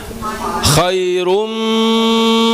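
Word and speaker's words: خَيْرٌ: Pertama buka k kemudian kita rahangnya kita rendahkan khai. Kemudian kita manyun karena rnya berharakat dommah. khairu. Kemudian ketemu apa? Mim. Mim. Khairum. Coba, Bu. Khairum.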